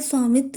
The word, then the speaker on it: SVAMITVA: SVAMITVA इसको shortcut में अगर देखें तो ये स्वामित्व, इसका प्रोनाउंसिएशन होता है स्वामित्व योजना।